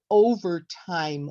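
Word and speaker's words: overtime: over time what would over time look like using your hands okay we would raise it for the O because that's the stress and then we would lower it for ver and time so it would look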